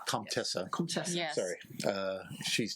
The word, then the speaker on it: comtesse: Comtessa. Comtessa. Comtesse.